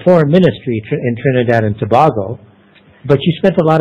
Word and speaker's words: Tobago: It's pronounced Tobago, not Tobago, eh?